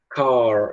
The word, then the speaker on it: car: O americano tende a falar car, ele tende a puxar o R. O britânico, o que ele vai fazer? Car. Ele para no A, entende? Car. Ele não pronuncia o R.